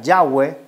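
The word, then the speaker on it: Yahweh: Jehová o yah o yahwe la forma hebrea sería yah o más mejor pronunciado sería yahwe y la forma Helena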